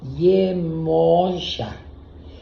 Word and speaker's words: Iemoyá: La palabra se escribe con O, Iemoyá, pero esa O está acentuada de una forma que se pronuncia prácticamente al oído, se escucha como una A.